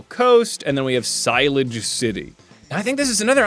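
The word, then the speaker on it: Shalour City: It's pronounced Silage City.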